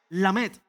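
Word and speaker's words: Lamed: La letra número 12 se llama o se pronuncia la met. Es así como se pronuncia.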